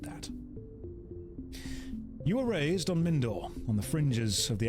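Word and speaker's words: Mindoir: the enemy base okay minir I'm going to pronounce all of these wrong and if you don't behave I'll do it on purpose it's pronounced mindor we'll go with mindor and they're just all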